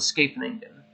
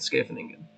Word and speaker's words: Scheveningen: This would be an opening called the Scheveningen. The spelling's there if you want to take a look at it. I'm pretty sure that's the correct way to say it, Scheveningen.